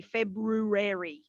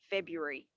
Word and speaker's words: February: or february but we're not going to say february no that first r is sort of removed february um apostrophe is another